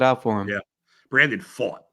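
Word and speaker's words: Pfaadt: for him yeah Brandon fought is actually how you pronounced it but it looks like fat so I like to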